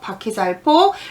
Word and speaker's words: 輻: 바퀴살 복자 하다가 지금 여기는 폭인데 바퀴살 복도 되고 폭도 됩니다. 발음이 두 개 있습니다. 바퀴살복, 바퀴살폭.